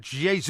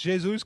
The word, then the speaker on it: Jesus: time sure too much now let's talk about Jesus which I think is the correct pronunciation of the word I'm sure you'll tell